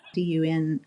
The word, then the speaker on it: Dunivent: is not spelled like it is. And then Dunivent, Dunivent.